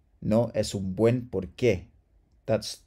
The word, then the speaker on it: porqué: And then finally, chicos, por space que, porqué. This means why or for which. Porqué, all right? So there's no emphasis here. It's not porqué. It's just porqué, all right?